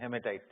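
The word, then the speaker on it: haematite: तो अगर ये छोड़ दें तो फिर दूसरा वाला कौन सा हुआ, Fe2O3, इसको क्या बोलते हैं, हेमेटाइट। स्पेलिंग बोलो, HAEA, हेमेटाइट, HAEMATIT, हेमेटाइट।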